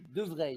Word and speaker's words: de Vrij: Donc on dit De Vrij. Ça se prononce Vrij.